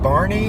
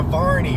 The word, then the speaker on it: Varney: And when I would tell people, they're like, Barney? I'm like, no, Varney with the V.